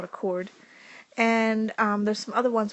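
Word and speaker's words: chord: diameter it's called a cord and it has an H in it but the H is silent that's called a cord and there's some other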